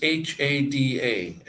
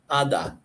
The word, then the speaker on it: hada: Now this is H-A-D-A, and you would think you would say that hada, but the H is silent, so why put it on there? But the H is silent. Ada.